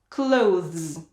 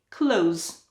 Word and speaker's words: clothes: as for this word you may find it tricky to pronounce the and z together clothes so do most people that's why you can say close like close the door or put on some clothes both sound the same next did you when